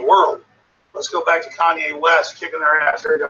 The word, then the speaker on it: Kanye West: Cayenne West. Kanye West.